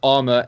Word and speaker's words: Arma: And that's Arma, A-R-M-A. In case our pronunciation throws you off.